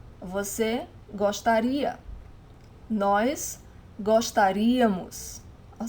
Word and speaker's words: gostaria: Now, for the conditional pronunciation, the stressed syllable is always the last one. So the stress of the word is always in this final i that you're adding there.